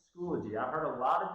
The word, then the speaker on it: Schoology: to pronounce this, but it's really easy just phonetically taking a look at it, or like if you're like me, it's just Schoology, right?